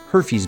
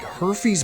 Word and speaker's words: Herfy's: drove past a place called her fees Burgers that's spelled h-e-r-f-y apostrophe s herfes herfy's burgers and uh on the it was like